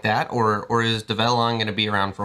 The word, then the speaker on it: Develon: So my next question is Develon. Did I pronounce it right that time? You did. Develon.